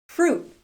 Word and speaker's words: fruit: "Fruit.